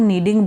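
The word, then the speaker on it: kneading: आप पिक्चर में दे सकते हो, जैसे जो ये आटा गूंदा जा रहा है इसको नीडिंग बोलते हैं। इसमें के साइलेंट है, फर्स्ट लाइन में आपके ये वर्ड दिया हुआ है, दिस वन, ठीक है।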